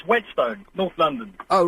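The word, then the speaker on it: Whetstone: of it frck SAU yes hi no it's wetstone north London oh right how do you spell it w t St oh right okay wetstone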